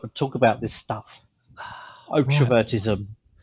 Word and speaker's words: Otrovertism: How do you pronounce it? Otrovertism.